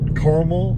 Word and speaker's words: caramel: This one's actually listed both ways in the dictionary. Caramel or caramel. Caramel. It actually gives you both pronunciations in the dictionary, so either one of them is correct.